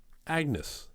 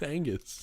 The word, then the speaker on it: Angus: Is it Angus? Did I spell it wrong? It's Angus. It is Angus because he's MacGyver because it's Scottish.